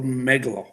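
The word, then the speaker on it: Omegle: uh i believe it's it came through a megalo um it's spelled o-m-e-g-l-e um we have been working with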